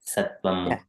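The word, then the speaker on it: सत्त्वम्: Yeah, Sattvam, yeah. So you emphasize on the M as though it's double M, yeah.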